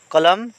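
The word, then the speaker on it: column: ইয়াতে জি সাইলেন্ট হইয়াছে কলাম কলম মানে ভাগ বা খন্ড ইয়াতে এন্ড সাইলেন্ট বর্ণ কন্ডেম কন্ডেম মানে বেয়া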